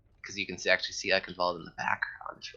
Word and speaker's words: Eichenwald: But folks, here we're gonna enter in the third map of a match here, Eichenwald, with the German pronunciation there, and I am hella excited for this.